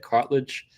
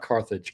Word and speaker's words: cartilage: Is that how you say it? Cartilage. Not carthage. Cartilage.